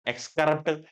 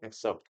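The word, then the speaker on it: excerpt: जरिए एक्स्रा है ना एक्सक्रप्ट एक्स्रेप्ट सारी प्रोनाउंसिएशन देख ली जबकि प्रोनाउंसिएशन इसकी होती है एक्सेप्ट ठीक है तो इसके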